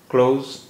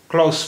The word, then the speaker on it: close: ज़्यादातर क्लोज बोलते हैं, क्लोज, और इसका एक उच्चारण, एक तलफ़ुज क्लॉस भी हो सकता है, क्लॉस यानी आखिरी आवाज़ जो है वो ज़ा की ना हो के सा की है, जैसे क्लोज, देखिए यहाँ